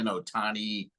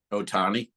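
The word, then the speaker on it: Ohtani: what do you take in this show Otani the gambling with The Interpreter you buying any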